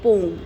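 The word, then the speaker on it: poem: ठीक है, अब आपकी पोएम का लेटेस्ट प्रोनाउंसिएशन पोम है। मैं आपको बार बार बताती हूँ, इसको याद रखना। ठीक है, क्योंकि हमें सही प्रोनाउंसिएशन बोलना है। पोएम इसको पहले बोलते थे, अभी इसको पोम बोलते हैं।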